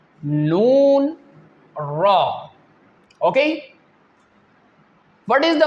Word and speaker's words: ن: The first one is Laam, Noon, Ra. Okay? What is the makharij of these 3 letters? When the tip of your tongue touches the upper gums, then these 3 letters will pronounce correctly.